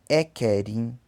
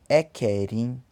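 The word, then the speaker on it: ẹ̀kẹrin: Então, primeiro pronuncia-se Equinin. Equinin. Primeiro. Segundo, Ekedi. Ekedi. Terceiro, Eketa. Eketa. Quarto, Ekerin. Ekerin.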